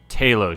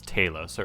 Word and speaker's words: Talos: her with and then Talos shows up I want to say Talos but it's taillow sir at least that's how they say it in the movie so I'm gonna go